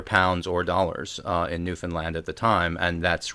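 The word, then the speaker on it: Newfoundland: say uh remember that newfinland rhymes with understand that's how you pronounce it you don't say newfinland necessarily or new a lot of people say New Foundland but that's not how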